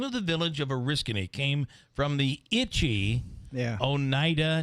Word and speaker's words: Oriskany: But apparently in Oriskany, that's where the Oneidas were like, don't go to Oriska, the place of nettles.